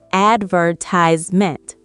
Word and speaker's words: advertisement: In America, we say advertisement, 4 syllables. In Britain, we say advertisement. We stress a different part of the word.